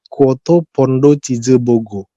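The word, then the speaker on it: 쿼터 파운더 치즈버거: Bahasa Korea sebenarnya sama persis, tapi beda pronunciation-nya. Dia pronunciation-nya kayak gini. Kwoto Pondo Chizebogo.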